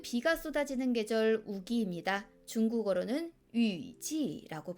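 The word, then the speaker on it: 雨季: 중국어로는 위지라고 발음해요.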